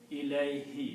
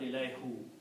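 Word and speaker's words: إليه: written like ilay, ilay, and this who is pronounced as he in the tajweed. So it becomes ilayhi. It's just to make easy on the tongue, we pronounce ilayhi, not ilayhu.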